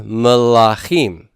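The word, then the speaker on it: מלכים: Melek in the plural becomes melachim. Where's my stress on melachim? It's at the end. So here's the deal with Segholate nouns. In the singular, they are committed to first syllable stress. But when they become plural, they give up the ghost on that. And the stress goes to the final syllable.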